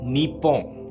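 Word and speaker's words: Nippon: English में हम Japan शब्द का प्रयोग करते हैं, लेकिन जापानीज में जापान का नाम है निप्पोन।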